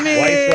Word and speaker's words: Weiss: Weiss. You did it. Yeah, Weiss like nice.